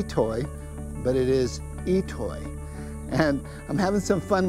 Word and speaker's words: I'itoi: I t o but it's pronounced itoy that's how you pronounce this so if you get